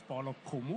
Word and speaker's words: Okumu: Okay, can you put me before your name so I don't misspell when I pronounce it? Okay. So my name is Paul Okumu, Uh-huh.